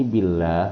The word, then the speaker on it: billah: Ini billah hukum bacaannya tarkik, dia ditipiskan. Cara membacanya dengan bunyi a, billah. Ya kalau tafhim pakai o, Allah. Itu bedanya ya.